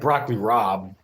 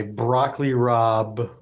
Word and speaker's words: broccoli rabe: I'm going to go with, I like broccoli rabe. I like broccoli rabe on a sandwich with mozzarella. I love mozzarella cheese on a sandwich with broccoli rabe. Broccoli rabe is spelled R-A-A-B, like Raab. Broccoli rab.